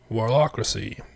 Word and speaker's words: Warlockracy: Yeah, man, you're back with another Warlockracy instead of Warlockracy. I've been told that's how you pronounce it, like democracy.